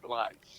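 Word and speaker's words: Leutz: Lights. L E U TZ. But you pronounce it just like a light bulb. Lights. I see.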